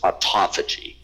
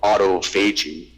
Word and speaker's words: autophagy: It's an unfortunate pronunciation. It should be called autophagy, but it's not. But then it would be clear what it means. Basically, it's the eating of self. Phagocytosis, phagy, eating, auto-self, but it's for some reason pronounced autophagy.